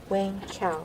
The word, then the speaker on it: Wayne Chow: Is it Wayne Chow? Is that how it's pronounced? 温潮。 Yes，温潮。 Wayne Chow.